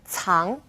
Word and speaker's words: cang: It's similar to the TS in its, cang.